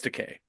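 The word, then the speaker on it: Takei: always says it because he says something like it rhymes with gay like oh okay yeah so it's teay um but whatever I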